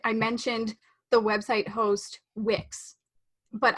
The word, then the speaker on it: Wix: mentioned the website host Wix, but I pronounced it as Winx. Even though, like, I knew it's Wix, W-I-X, but as I